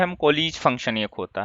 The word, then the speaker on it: COALESCE: कोलीज function होता है तो इसकी स्पेलिंग होती है COALESCE। ठीक, कोलीज फंक्शन।